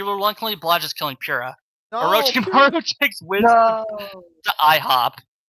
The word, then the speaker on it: Orochimaru: We have Darth Vader, Alpharad, Crom, Ronald McDonald, Orichimaru. How do you say it? Orichimaru? Orichimaru, Paul Yep, McCartney, Orochimaru.